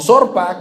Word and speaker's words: Orfa: Orfa o Zorpa, como se pronuncia en el original, significa testaruda.